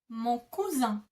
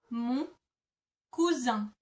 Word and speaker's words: mon cousin: Or if you wanted to say this is my male cousin, you would say mon cousin. Mon cousin. Mon cousin.